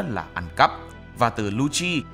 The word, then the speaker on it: Lucci: ăn cắp và từ Luci phát âm tương tự như lche trong tiếng ý có nghĩa là ánh